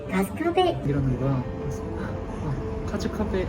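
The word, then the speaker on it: 春日部: 계속 못 알았다니까 아 가스카베 이러는 거야 카즈 카베 카즈 카페라고 하면 안 되구나 가스카베 이런 식으로 발음을 해야 되는구나 하는 그런 오픈 에피소드가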